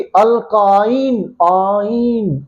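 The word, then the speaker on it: alkyne: देखो प्रोनाउंसिएशन कैसी है? पहले वाले की क्या थी? अल्केन, एन अल्केन। दूसरे की अल्कीन। और तीसरे की अल्काइन, आइन जा रही है, अल्काइन।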